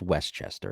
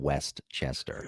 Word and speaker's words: Westchester: Chester oh you're it's it's called it's Westchester it's not Westchester you've got your syllables wrong Westchester Westchester you sound